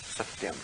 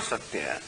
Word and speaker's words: सत्य: So tatra, footnote number 2, tatra satyapade, in this word satya. Tesham, footnote number 3, trayanam aksharanam madhye. Now that we are shown how this word satya is 3 syllables, sa, ti and yam.